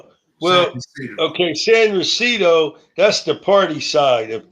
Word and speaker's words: San Ysidro: says what does the border look like in San Ysidro? No, San Ysidro. San Well, Ysidro. okay, San Ysidro, that's the party side of Tijuana.